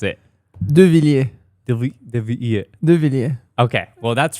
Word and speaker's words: Deviliers: Yeah, how do you pronounce it? Deviliers.